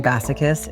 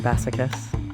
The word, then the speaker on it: Bassichis: you tell them that your last name rhymes with masochist.